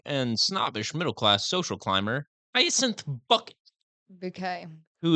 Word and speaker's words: Bucket: The central character is an eccentric and snobbish middle-class social climber bucket bouquet who insists that her surname is pronounced bouquet.